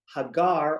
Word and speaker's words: Hagar: Hagar, or Hagar, depending upon one's pronunciation, is born to, bears the child Ishmael.